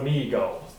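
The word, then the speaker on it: Mi-Go: The Migo. Yes, but this isn't the original stories. No. Because there's giant fucking robots. Yes, but they still, the way it's spelled is still pronounced Migo. Okay. O-U is O.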